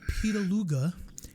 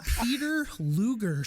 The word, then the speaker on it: Peter Luger: am cicero's been hyping this up and he's pronouncing it peter luga and i and i read the whitest name i've ever seen on the bottle this is peter luger sauce hysterically i i called cesaro that day